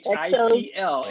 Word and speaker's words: Xochitl: My daughter's name is Sochil. Do you know how to spell that? Wait, say that again. X. Her name is Sochil. Anybody know how to spell that? Oh, with an X, right? Xochil. Xochitl. It's Nahuatl, which is Aztec, and it means flower.